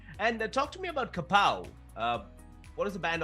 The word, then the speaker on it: Kapow!: get across quickly so people are like Capo like they mispronounce it later kapow I'm like there's an exclamation mark at the end so like you know